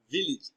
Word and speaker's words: village: Looking at the screen, we have the transcription of village. And when we have the underlined letter A, in the transcription, we have the sound E, village. It is pronounced as village, not village.